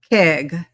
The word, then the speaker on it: Keig: Keig.